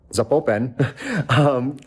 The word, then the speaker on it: Zapopan: Zapopan. I've always been pronouncing it wrong, so I've now been corrected.